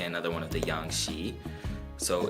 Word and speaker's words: ཤིས: have sha Kiku she so the Kiko gives like an e sound basically sha e kuu she saw we have the suffix saw here and the suffix saw is an interesting suffix in that it is silent and in some cases